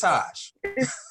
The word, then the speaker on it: Taj: Taj, is it Tajaran? It's Taj. Taj, yeah.